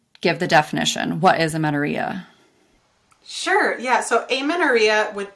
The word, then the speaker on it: amenorrhea: Moving on to our next question, we are diving into amenorrhea.